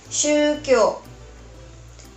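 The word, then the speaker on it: 宗教: Nah, pendidikan agama seperti yang udah terlihat di sini, dibacanya shukyo.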